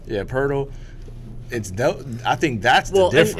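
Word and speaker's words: Poeltl: Pirtle? Yeah, Pirtle.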